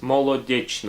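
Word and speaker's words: Molodechno: Soviet Union the name of the city is mole addiction or if you want to spell it mo l eau de CH n as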